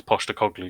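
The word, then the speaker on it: Postecoglou: was by the way to anyone listening in England it's Posh the cogley because you seemed to be struggling to pronounce it down there um but yes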